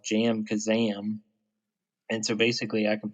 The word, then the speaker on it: JamKazam: I got my audio interface the other day, and we're using a computer program that's called Jam Kazam.